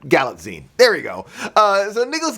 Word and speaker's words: Galitzine: Galitzine, like a magazine, but Galitzine.